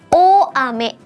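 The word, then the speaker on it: 大雨: Dia kalau bersatu dengan kanji besar bacanya menjadi o ame.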